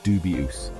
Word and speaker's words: dubious: we pronounce it as dubus with the stress on the first syllable make sure to enunciate